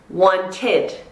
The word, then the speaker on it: wanted: Okay, want. T ending, So what is it? Wanted.